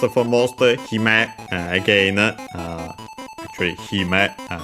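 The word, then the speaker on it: 姫: Actually, hime, the accent is on the first more, as we have seen the princess.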